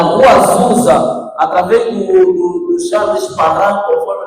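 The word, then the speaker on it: Charles Parham: na rua Zusa através do do Charles Parran, conforme o nosso irmão pronuncia. Eu não sei que é Charles Parran, mas o irmão disse Charles Paran, eu gostei da da pronúncia e agora também vou usar.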